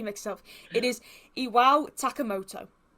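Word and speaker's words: Iwao Takamoto: I did pronounce his name wrong. It is Iwa Tatamoka I believe. I keep getting sounds good. It is I I get the K and the T mixel. It is Iwa Takamoto.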